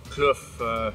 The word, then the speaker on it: Kloof: and it's cool yeah cloof naturally is a lot cooler than most of the other areas it's pronounced cluef we're in durban sorry